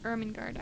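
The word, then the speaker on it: Ermengarde: only child lady charlotte emmer ermin guard i'm so sorry ermengard i'm going to say that every time now and you will never have to hear me say it wrong again that that that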